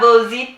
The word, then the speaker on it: Vozhi: Vozhi, am I saying that correctly? You're saying it correctly.